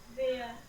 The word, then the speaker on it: where: अच्छा, अब एक की स्पेलिंग है WERE और दूसरे की है WHERE. दोनों की प्रोनाउंसिएशन तो सेम नहीं है. This is वर and this is वेयर. वेयर मतलब कहाँ, वर मतलब था.